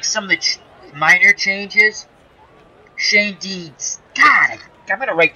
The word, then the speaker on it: Schoendienst: I can never pronounce his name correctly. I want you to buy 3 more seasons. Schoendienst. It's Schoendienst, isn't it, Clinton?